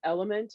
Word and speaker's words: LMNT: um let's see um element uh it's well it's spelled lmnt uh is another one